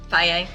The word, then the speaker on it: Paea: How do you say your last name? Paea.